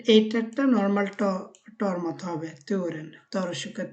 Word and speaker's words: turen: ওই থ, বাট এইটারটা normal টর মতো হবে, তুরেন, তরসুকা তু যেটা, সেখানে হবে থর, এখানে হবে তুরেন, এরকম।